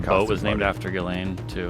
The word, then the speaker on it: Ghislaine: I think you say Ghislaine. Yes, that's right. What language is that? They would say Ghislaine and French, spell it like that.